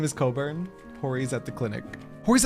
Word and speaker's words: Cockburn: I'm pretty sure it's pronounced Coburn. Is she Ellison as well? Because, yeah, then I guarantee you it's Coburn. But yeah. We'll say Cockburn.